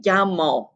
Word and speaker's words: llamo: Remember how I said that was pronounced? Think about how you think this expression is pronounced in in Spanish, and we get me llamo, me llamo.